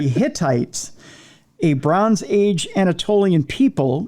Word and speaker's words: Hittites: were researchers believe the I'm going to pronounce this very slowly so it doesn't sound like hitlerite but it's the Hittites a Bronze Age Anatolian